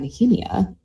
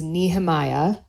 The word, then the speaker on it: Nehemiah: Um and so it is pronounced in in English it would be pronounced Nehemiah. And in Hebrew it's pronounced Nehemia.